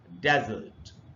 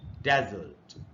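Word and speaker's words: desert: तो एक नाउन के रूप में जब यूज़ होगा तो हम इसको पढ़ेंगे डेजर्ट। डेजर्ट। लेकिन यही वर्ड जब वर्ब होता है the word डेजर्ट pronounce as a verb. अब देखिए इसमें इसमें कहां पर स्ट्रेस है प्राइमरी स्ट्रेस ये डी के बाद डी आई के बाद जो दूसरा सिलबल है ये यहां पर स्ट्रेस है बल्कि ये दूसरा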